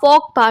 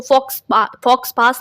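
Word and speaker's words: faux pas: Next है question number 8, अ फॉक पा means, इसको फॉक्स पास नहीं पढ़ेंगे शायद, फॉक पा इसका प्रोनाउंसिएशन होता है।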